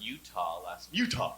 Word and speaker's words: Utah: Although I was, before I went to England, I was in Utah, that's how you got to say it, actually. Utah! Because You don't say it like you're sneezing or throwing up.